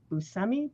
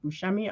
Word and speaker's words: Buscemi: using this photo of steve buscemi buscemi i don't know how to say his name you said it right the second time okay and what happened